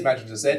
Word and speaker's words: Mazinger Z: It is Mazinger Z, because that's how they pronounce it in the Japanese as well.